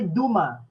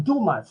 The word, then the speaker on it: Dumas: Okay, Nino Vincent said Alexander Duma. He's French, so we don't pronounce his family name Dumas. It's Duma. Silent S.